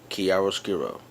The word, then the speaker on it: chiaroscuro: in the habit of learning especially this technique kiaro skiro and once again it's spelled CH hii a r o s c